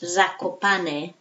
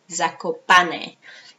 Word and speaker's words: Zakopane: Okay, and it's pronounced Zakopane, Zakopane, and the spelling is Z or Z.